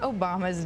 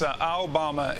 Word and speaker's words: Obama: I think it's Obama in China and closer to Obama in Taipei.